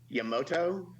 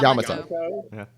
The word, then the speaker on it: Yamato: going to say it what I think is wrong which is probably the right way to say it Yamoto ah yeah Yamato a new I had